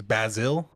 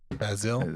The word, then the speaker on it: Bazille: I appreciate it's Bazille. Bazille. It's basil, like the Basil. spice. Yeah. Oh, it's basil like the spice. Bazille.